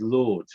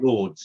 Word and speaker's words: Lords: Lords. Lords. How do you spell that? As in Lord, L-O-R-D-S. As in Lord. Lords. Like Lords, yeah.